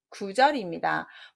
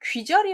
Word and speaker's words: 구절: 보실 까요 4 답은 구절입니다 보통 사람들이 귀절이 라고 하는데 귀 짜는 없어요 그렇게 긋자 에 마디